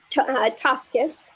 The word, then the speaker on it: Tosches: Tosches, I got yes, Tosches. You got it. Yes. Thank you. is teaching me pronunciation.